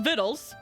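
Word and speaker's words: victuals: it it oh wow it really is pronounced viddles and it literally just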